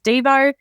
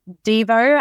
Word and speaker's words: Devo: his nickname was always Devo and we always say it's a Devo as in whip it good lady the song not Devo as in do you'll be devastated